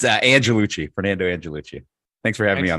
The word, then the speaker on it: Angelucci: show with me Fernando and I let Fernando pronounce his last name Fernando how are we doing good it's uh Andrew Lucci Fernando angellucci thanks for having me on the show Brett